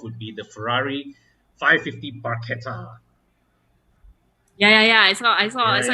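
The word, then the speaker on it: Barchetta: be the ferrari 550 barcata yeah yeah yeah i saw your comments it's i used to think it was pronounced bachelor but the italians pronounce ch as k so it's barquette remind you of bruschetta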